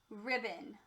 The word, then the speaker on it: ribbon: Number 3, ribbon. I have a pink ribbon in my hair. Ribbon. Say ribbon. Great job. First syllable, rib. That's a sound out syllable. Second syllable, bun. This syllable has a schwa.